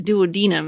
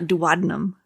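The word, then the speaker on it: duodenum: So, a doctor said it. It's duodinum. It's not dadnum.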